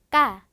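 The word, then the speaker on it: ka: 자, 까라고 하는 K는 발음이 쌍기역 소리 가지고 갑니다.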